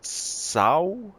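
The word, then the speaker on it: sow: pronounced so it's pronounced Sao I think I got a couple of comments on it and it's just like like saying ow you know when you're hurting somebody so Sao and Sao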